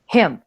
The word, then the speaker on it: him: Es como, por ejemplo, para him, him. Ustedes dicen him, no dicen him, no, dicen him. ¿Listo?